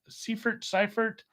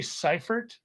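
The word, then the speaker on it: Seiffert: Not like Chase Seifert. I would say Seifert if I was pronouncing it because of So would I. the way the Germans use the E and the I.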